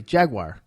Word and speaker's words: Jaguar: Boston accent coming through it's a jaguar a wire WI yeah Jay Jay AG WI re Jaguar oh that's not the name on the jersey well that's how it's pronounced jaguar jaguar now here's